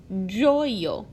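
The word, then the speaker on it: ĝojo: in Esperanto, like how joy in English turns into joyo in Esperanto. It sounds the same, but it definitely looks different.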